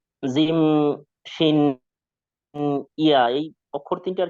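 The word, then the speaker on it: جيم: এই যে জিম, শিন, ইয়া, এই অক্ষর তিনটার কি উচ্চারণটা কোথা থেকে? এটা আসলে আমি করতে পারি নাই। জিহ্বার মাঝখান, মধ্যখান, তারপর আবার উপরে তালুর সঙ্গে লাগিয়ে, ঠিক আছে ভাই?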